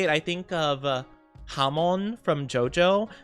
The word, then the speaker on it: Hamon: Every time I every time I say it, I think of Hammon from Jojo, which also is just pronounced like ham in Spanish. Hamon.